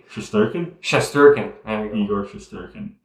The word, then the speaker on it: Shesterkin: don't how do you say his name shesterkin shesterkin there you go eor shesterkin eigor eigor yeah